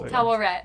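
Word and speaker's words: Taweret: That's Tawaret. That's how you pronounce it.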